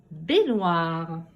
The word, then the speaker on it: baignoire: Efface ton ardoise et nous allons faire les syllabes dans le mot baignoire.